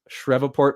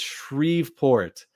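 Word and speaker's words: Shreveport: in my last video I uh pronounced shrevport but it's shreport I used to live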